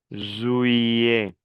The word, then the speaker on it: juillet: Juillet. La doble L como una I. Juillet. Le T final ne se prononce pas.